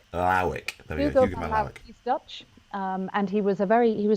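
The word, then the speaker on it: Lawick: I mean, getting to work with Hugo van, how do you pronounce his last name? Lauwijk. Lauwijk.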